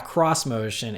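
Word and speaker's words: xmotion: it as Nissan's a cross-motion it's spelled ex motion but they say to pronounce it cross motion and this is just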